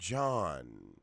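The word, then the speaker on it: Gian: for the whole Foundation Sean they're pronouncing her name John it's G IA n I'm trying to get the pronunciation right I like her she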